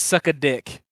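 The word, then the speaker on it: Sucka Diq: His name is Suck a Dick. So it's spelled DIQ. it's Sucka like SUCKA and then Dick DIQ. So awesome.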